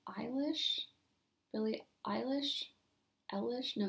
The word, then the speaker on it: Eilish: Eilish? No, it's Eilish.